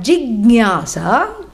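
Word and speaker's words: jijñāsā: Both of them start with G and both of them end in sa, and only the middle syllable is different. One is gya for jnanam and the other one is ha for giving up.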